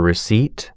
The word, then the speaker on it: receipt: Silent P for receipt, psychology, and silent K for know, knee, knife.